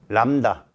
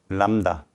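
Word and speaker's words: lambda: 그래서 뭐라고 읽어? 람다. 람다. B가 묵음이다. L-A-M-B-D-A. 람다.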